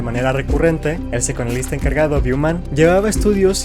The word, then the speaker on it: Neubauer: De hecho, cuando se descubrió que Neubauer, así se pronuncia, era el dirigente de este experimento, lo